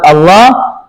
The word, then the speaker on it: الله: dikasih fathah berdiri karena orang Indonesia seringki keliru dalam pengucapan lafaz Allah yang dipendekkan padahal harus panjang. Makanya dikasih pertegas ada fathah berdiri supaya di situ lafaz Allah selalu dibaca panjang jangan sampai dibaca pendek.